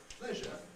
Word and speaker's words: pleasure: problems with words like pleasure because notice that pleasure does not rhyme with pressure they not a minimal